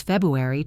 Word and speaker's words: February: And notice that the last syllable is a very light, soft E sound. It is not stressed.